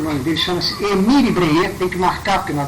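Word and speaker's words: Bréhier: nós vamos trabalhar nele breer como é que se escreve BR e h i r r né BR r e h r tem um acento do primeiro R bre bre o em que é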